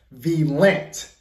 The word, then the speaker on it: Valiant: Y'all say it's pronounced Valiant.